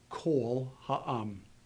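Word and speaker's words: כָּל־הָעָם: This has to be a short O, and it would be pronounced kol ha'am. Kol ha'am.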